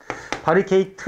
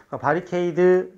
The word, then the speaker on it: 바리케이드: 바리케이트 다르게 이체를 쳤다 그런데 힌트가 될 만한 게 원어를 보니까 바리케이드 해커 c he 로 끝났지 뒤로 끝나는 것을 털어 읽을 이유는 없잖아 그치 바리케이드 맞았네 그 다음에 자